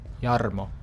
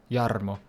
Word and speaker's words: Yarmo: you say my name yarmo that's how you need to say it every time from now on when you say it whenever you say it yarmo you roll your R you have to roll